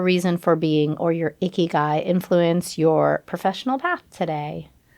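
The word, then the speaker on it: ikigai: You and I talked about a word that is a Japanese word and the word is icky guy and it is spelled I K I G A I for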